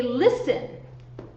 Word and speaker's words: listen: If you have a verb like, say, listen, you look at this one, it is consonant, vowel, consonant. Where is the stress? Listen. The stress is on the first syllable.